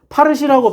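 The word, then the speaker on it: فارسی: 파르시라고.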